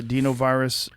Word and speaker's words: adenovirus: So the adenovirus vaccine is a DNA? That's right. So they or is it adenovirus? Is that how you say it? Adenovirus, yes.